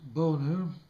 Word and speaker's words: Boehner: John Boehner, pronounced Boner, Speaker of the House, in referring to the President's response to the Iraq crisis, said, quote, "Where was he?